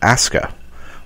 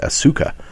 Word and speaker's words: Asuka: She walks out, and then it changes to Asuka, which looks like you would pronounce it Asuka, but it's pronounced Asuka.